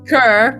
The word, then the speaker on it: cœur: How is It is pronounced cur, basically.